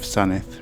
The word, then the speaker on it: Sandwith: For example, Fleswick Bay, written as Fleswick, and the village of Sanith, written as Sandwith.